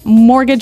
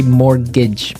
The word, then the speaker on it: mortgage: I mean, there's this strange mortgage with a T. Yeah. It has a T in it, but you don't pronounce it. You say mortgage.